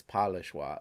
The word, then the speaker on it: Pas le choix: was pretty cool um okay so the s is silent i should have known that because um you're in iowa well you have illinois which i believe is a the s is silent des moines is silent i should know that so it's polishwa okay um so there's